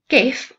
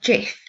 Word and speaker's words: GIF: GIF, or JIF depending on how you say it, is the next one.